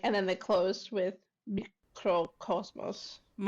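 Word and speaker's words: Mikrokosmos: then they closed with Microcosmos. It's microcosmos. I used to think it was microcosmos as well. Yeah, it's just microcosmos. It's spelled like it would be Greek, okay?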